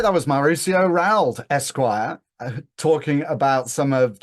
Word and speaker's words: Rauld: Like my last name is French, and so if the French pronunciation is nowhere near from the Spanish pronunciation, which is nowhere near the English pronunciation. But I go with Rauld.